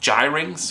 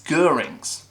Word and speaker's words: Gyrinx: quick note on pronunciation I really thought that this would be something like gyrings or drinks but according to GW author gav Thorpe it's gerings so there you go official